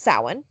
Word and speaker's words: Samhain: going to butcher this, Samhain, which is spelled Samhain. So I always try to say Samhain or Samhain, but it's Samhain.